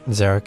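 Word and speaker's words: Xeric: Zerich is spelled X E R I K.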